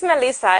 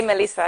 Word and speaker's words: Mhelyssa: pronounce your name correctly melissa right yes yes it's melissa it's just a fun way to spell it but we say melissa anyway yeah there's the